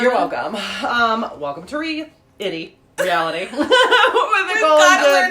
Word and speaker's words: REAL-ity: Reality. We've got to learn how to say that much better. No, it's reality, but it's spelled real-itty because we're funny.